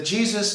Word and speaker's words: GSYS: The Jesus is spelled GSYS and is an acronym for the guidance system, a secret wireless communications network built by the Air Force in the 1950s.